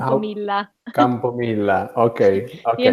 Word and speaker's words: Campomilla: how Campomilla. Campomilla. Okay, okay. Like the Italians. Campomilla.